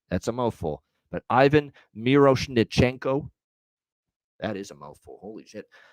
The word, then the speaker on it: Miroshnichenko: schenko there we go Ivan miros nenko is how you say that that's a mouthful but Ivan miroshnichenko that is a mouthful